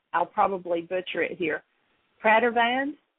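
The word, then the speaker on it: Pradervand: his last name I'll probably butcher it here Pratt van p r a d e r v a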